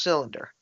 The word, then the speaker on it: CYX Linder: It's pronounced cylinder.